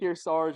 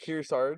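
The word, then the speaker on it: Kearsarge: Kirarge. Like like Kier like from here and then like Sarge like on the lake like together.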